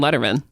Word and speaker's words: Lederman: Um, welcome Letterman.